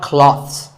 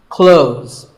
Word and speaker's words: clothes: Well, first of all, this word is not cloths. When we say clothes, the TH in the middle can often be silent. Clothes.